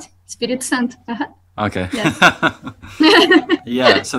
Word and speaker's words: Espírito Santo: There's been 12 years of women's gems in, okay, how do you pronounce the area? Espirito Santo? Right, right. Yeah? Espirito Santo.